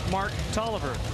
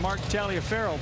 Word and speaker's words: Taliaferro: me say Mark Toliver normally I've been saying Mark Talia Farrell but Chance encounter yeah I ran into him yesterday and I kind of remember when we first started watching him race years ago that he said his name was pronounced Oliver so I went and checked